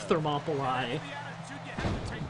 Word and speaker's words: Thermopylae: No, I don't remember the Battle of Thermopylae. Bonus points that I got to pronounce it correctly, though. You gotta give me something for that. Not many people can pronounce Thermopylae.